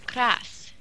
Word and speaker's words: KrasS: anyway it's very easy it's like brass but it's cross I thought people were